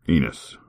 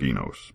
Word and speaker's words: Enos: Enus. It looks like Enos, but he's not. He is He's Enus.